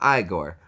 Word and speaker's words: Igor: It's not Igor. It's pronounced Igor.